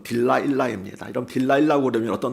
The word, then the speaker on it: 딜라일라: 여성이 등장합니다 데릴라 하지요 영어식 발음은 딜라일라 있니다 여분 딜라일라 그러면